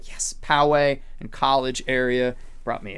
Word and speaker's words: Poway: barbershop poway i said it right right yes poway in college area brought me a tea i